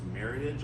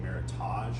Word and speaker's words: Meritage: and it is pronounced Meritage a lot of people will say Meritage but just for your knowledge um it comes from the words Merit and Heritage uh it was originally